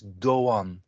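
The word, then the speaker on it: Erdoğan: and now this is the the the g it's not a g it's actually a non-silent one so uh for instance the name erdogan so it's doan but actually also our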